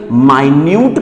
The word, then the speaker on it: minute: एक का प्रोनाउंसिएशन, अगर आप इसका प्रोनाउंसिएशन मिनट करते हैं तो उसका मतलब क्या होता है, मिनट होता है। और अगर आप इसका प्रोनाउंसिएशन माइन्यूट करते हैं तो उसका मतलब हो जाएगा मामूली, बहुत ही छोटा, बहुत ही कम।